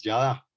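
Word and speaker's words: ידע: Biblia, el hebreo, es la palabra yada. No les voy a escribir cómo se escribe en hebreo porque es una vaina complicadísima, pero la forma en que se lee es yada.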